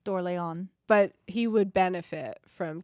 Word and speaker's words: Orléans: Well, it's spelled Orleans. Yeah, it looks like Orleans. I'm sorry. Orleans that we American. say here, but I think it's House d'Orléans.